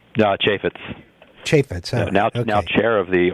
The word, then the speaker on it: Chaffetz: Is that how it's pronounced? Chaffetz.